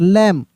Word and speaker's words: lamb: गया है लेकिन साइलेंट लेटर है, क्या है, साइलेंट, लैम्ब, लैम्ब नहीं, लैम्ब, ठीक है ना।